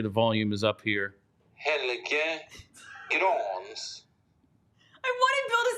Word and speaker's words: Helge: it's the Elite Prospects pronunciation of Helge's name. Let's make sure the volume is up here. Helge Grans.